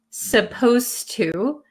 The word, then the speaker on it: supposed to: at supposed to and notice when I pronounce supposed to um the D sound and the T sound become kind of like one sound so when I speak supposed to supposed to it doesn't sound like there's a d that is